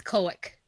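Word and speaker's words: Culhwch: other way to say it cold which it's Kolak okay it's a story of Colchis turns down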